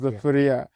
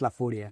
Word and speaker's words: La Furia: found that your one of your nicknames was Laura. Um first of uh how do you pronounce that? Just Laafuria. Lauria.